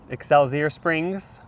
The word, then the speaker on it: Excelsior Springs: Resort in EXO Springs ex how do you pronounce that exceler Springs Missouri this Hotel doesn't hide that they're haunted